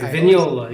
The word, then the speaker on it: Vignola: duo with uh frank vignola right vignola am i pronouncing it correct that's correct vignola yeah okay uh and they